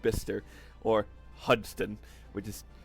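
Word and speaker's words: Bicester: bis bister which is spelled bice but it's pronounced bister uh and the second one was high wickum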